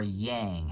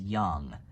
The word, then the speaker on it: Yang: acknowledge the darkness again it's the Young The Young or Yang how people say it but I but it the proper pronunciation is Young uh uh but you're